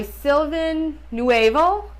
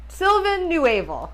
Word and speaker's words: Sylvain Neuvel: is sleeping Giants by silvin newal new silvin newal I think is how you say it so I started this